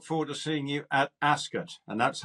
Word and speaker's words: Ascot: pleasure and look forward to seeing you at Ascot and that's how you pronounce it not Ascot okay as as it's like ro royal aset